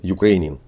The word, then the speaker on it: Ukrainian: Ukrainian. Опять же, ударение на второй слог.